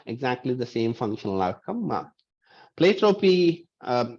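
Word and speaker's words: pleiotropy: the same functional outcome play trophy uh different people pronounce that differently I pronounce it as pleiotropia um the pre-appropy is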